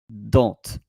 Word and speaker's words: dent: You don't say in French dent or dent. You say dent. Whether it's singular or because the T or the TS is silent.